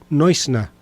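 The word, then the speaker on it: Neusner: norteamericano eh Jacob eh Newner, yo no sé cómo se pronunciará eh el apellido eh en inglés. Eh, el apellido es de origen alemán. En alemán se dice Jacob Noisna.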